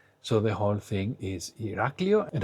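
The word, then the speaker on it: Ηράκλειο: And how do you know that the stress is on Iraklio and not, for example, Iraklio or Iraklio? It is because you have the tone mark, and this is on the A, Iraklio.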